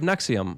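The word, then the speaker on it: NXIVM: This is the story of Nexium. I know it doesn't look like that, but that's how it's pronounced.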